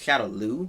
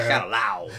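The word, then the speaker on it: Shadaloo: They pronounced it wrong too. It's Shadow Lu, not Shadow Lao. There's no W in that.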